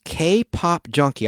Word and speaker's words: KPOP_JUNKI: Her YouTube channel is K-Pop Junkie. I'll spell it for you because there's an underscore, but it sounds like that, K-Pop Junkie.